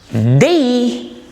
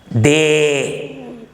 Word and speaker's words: they: They, please don't say they. It is wrong. It must be pronounced as they. The very first diphthong, ye, is used here.